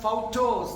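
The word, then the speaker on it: photos: ഓർമ്മകൾ ഉണർത്തുക അപ്പൊ ഇത് ഫൗട്ടോസ് അതായത് ഫോട്ടോസ് ഉച്ചരിക്കുമ്പോൾ ഫൗട്ടോ നിങ്ങൾക്ക് വേണ്ടി ഫോട്ടോ ദി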